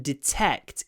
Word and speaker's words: detect: Try to put a pause between your a and your k. Try to do detect and then a nice pause and then detect detect. When we have a vowel between two unvoiced consonants here t and k are unvoiced consonants even more so because they are unvoiced aspirated consonants the vowel gets kind of swallowed. It becomes a very breathy vowel.